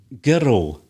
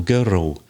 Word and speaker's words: girl: heard that r there we also add an e an i it's like another syllable like girl when the two consonants come together it's almost as if we make another syllable girl and world because the tongue is at the top of the mouth to bring it down you insert the eye let's hear it in contrast girl girl girl world world world film